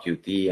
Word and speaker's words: Qt: Now we'll go through the definition of QT and what it's involved too. First of all, I beg your pardon because actually the correct pronounce of this framework is Qt, but I'm so used to say QT that you will hear me just say QT.